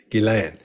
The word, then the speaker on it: Ghislaine: so Scott all right we finally hear what our name is supposed to be pronounced giland because I was always calling her Elaine and just Lane and